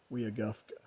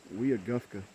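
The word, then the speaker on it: Weogufka: I've been saying it wrong. I think it's actually called Weagufka.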